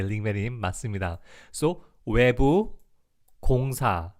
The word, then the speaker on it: 외부: The pronunciation is just 외, like why, 외, pretty much, and 부, 외부. Outside or exterior, yeah, exactly, or external, yeah, keep it like that too, exactly.